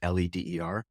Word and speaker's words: Leder: There's no A in there, even though it's pronounced Leder, Leder.